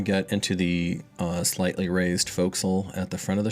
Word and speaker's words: forecastle: It is spelled forecastle, but it is, as a former Navy person, I'm sure my fellow sailors would string me up if I pronounced it that way.